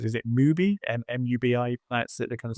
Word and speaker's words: MUBI: Um and I think it might be on um I think you pronounce is it movie mubi?